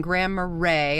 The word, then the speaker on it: Grand Marais: here at the campground in Grand Marais I did verify that's how you say it um here in Grand